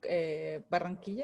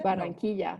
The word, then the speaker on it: Barranquilla: They're from Barranquilla? Barranquilla. No. Barranquilla, yeah, from Barranquilla. Well, in English, the pronunciation would be Barranquilla.